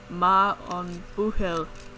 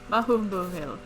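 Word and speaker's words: maith an buachaill: The pronunciation is ma on buhil. Mahum buhil.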